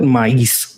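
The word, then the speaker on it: maíz: Some I think the Native Americans also call it maze, but we call it mice, like with an accent on the I in Spanish.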